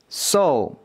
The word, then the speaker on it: so: 것을 보여 드리려고 하는데 먼저 첫 번째로 나와 있는이 단어는 오 발음입니다 좀 조금 있다 해 드릴게요 들어보세요 이거는 오 발음이에요 두 번째에 있는 단어